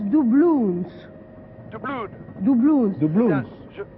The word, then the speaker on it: doubloons: Et en anglais, apparemment, ça se prononce doubloons.